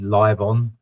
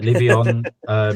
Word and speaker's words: Livion: People pronounce it in England Livon, but Livion.